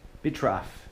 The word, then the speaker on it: Bitraf: So I'm here with Jens at Bitraf in, did I pronounce that right?